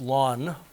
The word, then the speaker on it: ln: a natural logarithm and it's pronounced lawn like mowing Your Lawn Lawn of X and